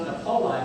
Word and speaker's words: Napoli: This is pronounced Napoli, by the way, not Napoli. It would be Napoli in Italy.